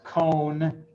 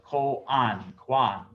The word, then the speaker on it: koan: You'll sometimes hear this mispronounced by Westerners as cone. No, it's from Japanese, it's spelled as it is pronounced, or I should say the reverse. It is pronounced as it is spelled, koan.